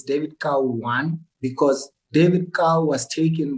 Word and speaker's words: Kau: it's k-a-u right because a lot of people think or pronounce it cow well why people pronounce